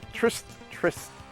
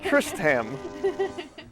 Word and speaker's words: Tristam: Tristan. You know what? I'm just going to wait for his name to pop up, and I'll say it right. Tristam.